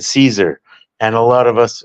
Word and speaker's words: Caesar: on the screen and I was always pronouncing in my head like kesar kesar and so I thought this fucking guy in this video game was kesar and but in reality it was Caesar and so there and